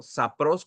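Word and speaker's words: σαπρός: sapros obscena del griego sapros con acento en la o y así como suena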